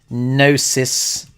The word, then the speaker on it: Gnosis: Now, there is a bit of crossover between Cow Protocol and Gnosis. The G is silent, GNO.